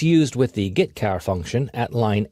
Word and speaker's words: getchar: The 2 most common C language character I/O functions are getChar and putChar. That's how I pronounce them.